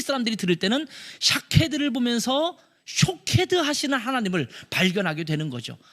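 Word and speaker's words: שֹׁקֵד: 샤케드, 샤카드, 쇼케드 다 모음은 똑같은데 여기에 점을 어떻게 찍느냐에 따라서 발음이 달라지는 거예요.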